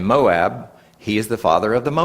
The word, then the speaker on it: Moab: Moab is actually more correct pronunciation.